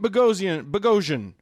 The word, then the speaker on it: Boghossian: We have Pete Boghossian. Sorry, Pete. All good. He explained to us earlier, listeners, that it rhymes with explosion.